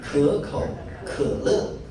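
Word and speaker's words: 可口可乐: Say it in 可口, 可乐, 可口.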